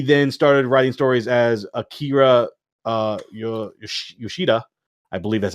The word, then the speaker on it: Akira Yoshida: So he then started writing stories as Akira Yoshida. I believe that's how you pronounce it.